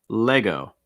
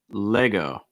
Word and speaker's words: Lego: after that lego lego key thing is that e la la lego lego this is the same s only see like in best or get or head le lay lego lego just like in saying leg as well after that bayer bayer